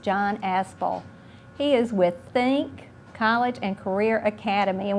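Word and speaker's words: THINC: Now, I know that's kind of a unique spelling of Think. Mm-hmm. It's spelled T-H-I-N-C. With emphasis on the ink.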